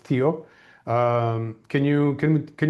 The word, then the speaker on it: THEO: So tell me um so the company that you represented you started um pronounced Theo.